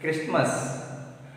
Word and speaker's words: Christmas: Now coming to page number 56, Christmas, Christmas, Christmas, Christmas. Not pronunciation is Christmas, not Christmas. Christmas, not. T is silent.